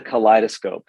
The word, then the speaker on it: Kaleidoscope: So it's called the kaleidoscope, spelled like collide-o-scope.